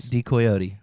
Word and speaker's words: Decoyote: Pronounce it for us. Decoyote.